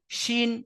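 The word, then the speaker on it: ش: একটু আগে, আর জিম শিন ইয়া এই 3টি অক্ষরের মাখরাজ হলো জিহবার মাঝখান তার বারবার উপরের তালু, জিহবার মাঝখান এবং তার বারবার উপরের তালুর সাথে লাগিয়ে উচ্চারিত হয় জিম শিন ইয়া।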